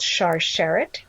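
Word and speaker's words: Sharsheret: through where they are right now it's called char sherrod and i can spell that for you it's s-h-a-r-s-h-e-r-e-t it's a national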